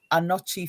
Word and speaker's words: Anokye: On my channel is Anochi Films, which is spelled ANOKYE Films on YouTube.